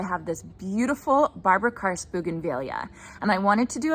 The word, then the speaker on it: bougainvillea: Some people pronounce it bougainvillea, some people pronounce it bougainvillea. I actually looked it up and both are totally appropriate. So I've always called it bougainvillea, so I'm gonna go ahead and continue with that.